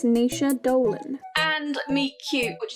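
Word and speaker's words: Naoise: correctly here it's really quite simple meg it's nisha dolan and me cute which is down here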